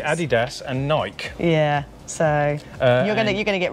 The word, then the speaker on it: Nike: I don't know, I think it's Nike. I got a funny feeling that's an American brand and the Americans say Nike, so yeah, I think we got it wrong calling it Nike.